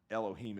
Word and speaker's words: Elohim: of those that we Elohim is how it's pronounced in the Bible and it that says